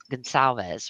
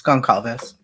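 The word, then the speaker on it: Gonçalves: Is that how you say? Is it Gal? It's Gonzalez, right? No, it's Gonalves.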